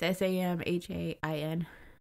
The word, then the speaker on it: Samhain: It's S-A-M-H-A-I-N. Sam, what is it? H-A-I-N. Samhain.